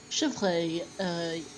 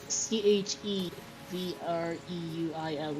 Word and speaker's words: chevreuil: I think I spelled the correct number of vowels in the second part, in the last syllable of Ikirei, at least. Chevreuil, Chevreuil is deer.